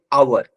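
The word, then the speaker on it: hour: ठीक है, कभी कभी क्या होता है कि कुछ ऐसे वर्ड होंगे जहां पर एच म्यूट होता है, उसका प्रोनाउंसिएशन किस तरह होता है, वॉवेल की तरह होता है। Like an आवर, N hair, an honest man, और एन ऑनरी पोस्ट।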